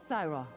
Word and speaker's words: Syra: Traveler, meet Syra. She's with us. So that's how that's pronounced.